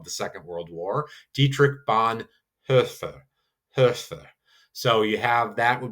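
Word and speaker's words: Bonhoeffer: Lutheran reformer of the second world war dietrich bon hur. So you have that would be that technical pronunciation of her. Um that is very strange and we just say usually most times bon hofer spelled o e and so we just kind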